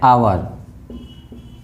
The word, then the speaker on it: hour: एन एचओ then N FIR and honest and hour, क्योंकि यहाँ पर एस साइलेंट है इसलिए आवर ऑनेस्ट।